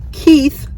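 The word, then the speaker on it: Koeth: to you it's also Keith spelled k-o-e-t-h told me how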